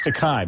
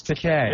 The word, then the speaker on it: Takei: George Takei is, it's Takei, by the way. No, it's Takei. Is it? Rhymes with okay.